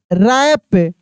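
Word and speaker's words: wrap: डब्ल्यू आर ए पी रैप डब्ल्यू आर A double P ई डी रैप्ड।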